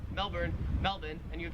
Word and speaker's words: Melbourne: The Australian accent just leaves the R off if it's ever in the last syllable of a word. So you would pronounce Melbourne, Melbourne, and you would pronounce Cairns, Cairns.